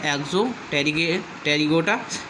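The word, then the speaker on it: Exopterygota: ये देखो क्लास हो गई, ये ऑर्डर है एक्सोटेरिगोटा। ठीक है, इसमें साइलेंट पी रहेगा। तो ऑर्डर जो है एक्सोटेरिगोटा, ये हो जाता है ऑर्डर।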